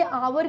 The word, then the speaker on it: hour: क्यों, क्योंकि देखिए HOUR ये आवर की स्पेलिंग है, ठीक है, शुरुआत एच से हो रहा है यानी कि ये कॉन्सोनेंट वर्ड है, कॉन्सोनेंट साउंड नहीं है।